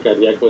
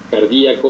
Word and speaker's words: cardíaco: de México y que pronuncia cardíaco de maneras diferentes cardíaco o cardíaco la palabra viene del griego y la pregunta que se hacen en este artículo de la revista eh española de cardiología es si se escribe con acento o sin acento o si se pronuncia haciendo mención al acento o no y la respuesta correcta según ellos es que eh se puede deir de las dos maneras e incluso los españoles